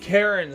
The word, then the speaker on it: Charon: Karen, spelt with a CH. Instead of like Charon.